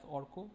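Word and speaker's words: Arka: It's pronounced as Orko. It's spelled as A-R-K-A, right?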